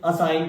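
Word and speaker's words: assign: जब जी और एन दोनों एक साथ मिले तो जी को साइलेंट कर देंगे।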